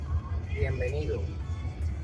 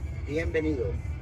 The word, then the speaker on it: Bienvenido: Is it my pronunciation is good? It's good. Benavides means welcome. Bienvenido. What's that? Bienvenido.